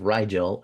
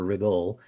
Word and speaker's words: Rigel: We have Rigel or Rigol.